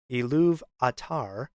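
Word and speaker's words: Ilúvatar: Valor and the world iluvatar or to pronounce it another way elu atar meaning father of all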